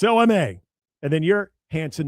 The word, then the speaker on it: Hansen: Which is when you hear it over, normal speech, doesn't sound like it's anything different, but it's HANSEN, not HANSON. So spell it right, people. EN, not ON.